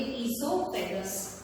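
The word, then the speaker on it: oesophagus: यहाँ पर ओ साइलेंट है, इसे कहेंगे ईसोफेगस।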